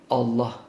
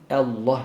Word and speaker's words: Allah: sadece bir not düşelim lafzatullahın başındaki elif her zaman ince okunur ince okumamız gerekiyor Onu ince geldiği yerlerde Evet yani Allah diye okumuyoruz Allah şeklinde okuyoruz başlarken Evet ra ne zaman